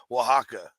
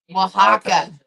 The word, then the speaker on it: Oaxaca: Yeah, it's like really crazy spelling, but it's Oaxaca. Oaxaca.